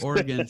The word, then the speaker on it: Oregon: dude really yeah wait how do you say it oregon yeah yeah that's the correct way oh oregon sent a box out